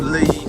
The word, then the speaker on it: Lea: uh some points it's called the Lee spelled Lea in some parts it's spelled